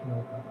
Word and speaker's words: Tonopah: And that was intentional mispronunciation. Tonopah, Nevada area. And yes, I know it's Tonopah.